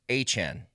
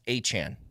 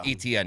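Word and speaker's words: Etienne: and he said, "So, my name's actually Achen." like pronunciation. It's a a y-chan like Jackiechan. Says, "My name is actually pronounced Achan."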